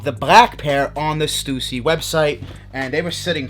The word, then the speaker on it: Stussy: We do have some stickers, and this is from the brand Stussy. Stussy, however you guys want to say it. I call it Stussy.